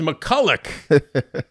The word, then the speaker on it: McCulloch: You're saying our name wrong. It's McCulloch.